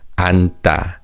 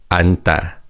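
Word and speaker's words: 앉다: The chachim in theim is silent. So it's read ant. And as you can hear the tig in sounds like sigot. So it's not and but it's ant. Ant.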